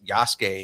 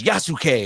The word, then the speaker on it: Yasuke: get to play as yasu and it's like no no no Yas the the U is silent bro it's like Asuka you know like y it's not yasuke it's Yas Yas yeah